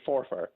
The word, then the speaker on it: Forfar: They always say for far, as if it's two syllables, like for far, 1 and an athletic nil. Can they just say forfar, like every other Scottish person in the world? It's not a two-syllable word.